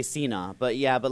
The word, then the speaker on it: Sina: so popular ah well in Farsi you would say Cena but yeah but like